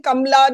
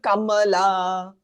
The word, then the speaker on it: Kamala: truth to that but nobody can say her name properly. Even she has stopped saying Kamla. Now she calls herself Kamala.